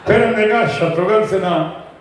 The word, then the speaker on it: शत्रुघ्न: प्रांत में अलग-अलग लोग आज भी कई बार मेरा नाम जैसे उच्चारण करते हैं मिसाल के तौर पर मेरे पंजाबी फ्रेंड्स जहां मिलते पूछते हैं की हाल है शत्रुगंज पहाड़गंज दरियागंज शत्रुगंज हमारे